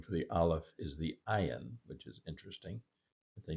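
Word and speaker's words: עין: as in modern Arabic, the ayin actually has a sound. It's a guttural NG for most of us Western speakers, difficult to pronounce, but it is like a it's the G in Gomorrah. Think of the city Sodom and Gomorrah. Gomorrah actually starts with an ayin, so that's where the G comes from.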